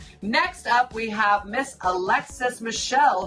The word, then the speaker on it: Michelle: Next up, we have Miss Alexis Michelle, whose last name rhymes with hell.